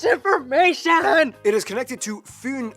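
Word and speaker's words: Fyn: it is connected to fun Island not Finn Island by the great belt Bridge completed in 1998.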